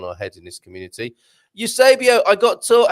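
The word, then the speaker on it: Eusébio: Eusebio, I got taught how to say your name properly yesterday. Did I not say? Have I not been saying Eusebio right?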